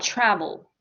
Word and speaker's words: travel: What about travel? Where is the stress? The first one. It's on the first syllable.